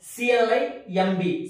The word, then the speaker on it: climb: సో when the word ends with mb, the b is silent.